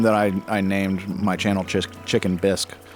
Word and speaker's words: Chicken Bisque: I named my channel Chicken Bisque, as in the soup bisque. I know I misspell it. It's not, my name's not Chicken Biscuit, it's Chicken Bisque.